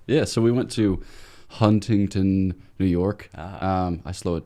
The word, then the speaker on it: Huntington: I think it's Huntington. It's all T's.